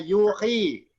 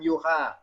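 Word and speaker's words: يُوحِي: Ini bacanya yuhi, bukan yuha.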